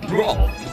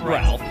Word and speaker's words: Rolfe: Rolfe. My name is pronounced Rolfe the Wolf, not Ralph.